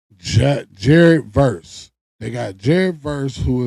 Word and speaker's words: Verse: But yeah, that boy Miles Garrett got traded for the guy name is Verdu. How you say his name? Jared Verse.